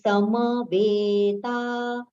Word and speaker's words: समवेता: So that is dharma kshetre, kshetre, we have to prolong, kurukshetre, kurukshetre, samaveta, sama, complete pronunciation. It should not be sam. It is samaveta, yuyutsavaha, yuyu, both are with a short pronunciation.